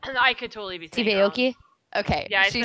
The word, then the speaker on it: Aoki: I watched the Steve Aoki one and I didn't get one ad the entire time.